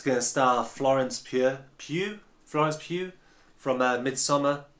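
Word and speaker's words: Pugh: production called dolly it's gonna start florence pure pew france pew from midsummer it's got one of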